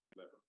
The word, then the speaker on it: LVR: And this work is about something we call loss-versus-rebalancing, so LVR, pronounced lever.